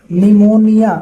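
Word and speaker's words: pneumonia: निमोनिया। अब देखो ये निमोनिया तुम पढ़ोगे तुमको लगेगा सही है। लेकिन निमोनिया ये इसीलिए गलत है क्योंकि निमोनिया का स्पेलिंग पी से शुरू होता है।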